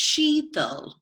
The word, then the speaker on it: Sheetal: so excited to introduce you to our guest Sheetal am i pronouncing that right yes it's Sheetal she gets she knows American accent well before